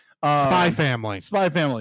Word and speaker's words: Spy x Family: called Uh spy family spy family the x is silent oh okay it is there for stylistic reasons alone okay gotcha uh we